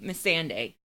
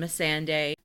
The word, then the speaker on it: Missandei: Missandei.